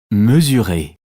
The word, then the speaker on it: mesurer: Mesurer. On prononce Z.